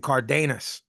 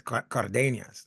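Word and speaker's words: Cárdenas: on Pro box uh they kept saying cardus I guess maybe americanize it because it's Cardenas it's how you say it other people with that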